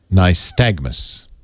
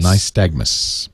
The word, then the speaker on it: nystagmus: who is in the chat room says it's pronounced nystagmus nystagmus thank you ray's from missouri he doesn't